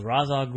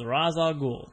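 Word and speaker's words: Ra's al Ghul: of the names was razag I said we learned from Scott batty in wizor Philly that he asked you and you told him that the correct pronunciation was Raza goul so if anybody ever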